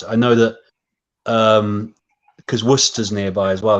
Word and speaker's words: Worcester: I know that because Worcester's nearby as well, they pronounce it Worcester. I think in Massachusetts. Over Worcester, here, yeah, it's Worcester. But I think so you have Worcestershire sauce, of course. So you pronounce it like you pronounce that as it should be, but it's actually Worcester, not Worcester or Worcester.